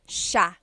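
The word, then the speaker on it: siya: be pronounced but it's actually pronounced Sha Sha so the SI i y it's a sha sound sha and then another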